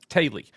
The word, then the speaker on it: Teulu: Teulu or Tila is Welsh and sounds something like Taily. Yeah. It is pronounced Taily, which I literally just